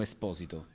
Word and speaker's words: Esposito: No, it's the correct pronunciation is Esposito.